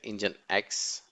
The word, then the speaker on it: nginx: the requested content nginx actually pronounced as the engine X is popular open source